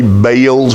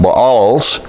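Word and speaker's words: Baals: altars of the balls I used to say bails but I'm told that correctly it is pronounced balls in his present and the incense altars which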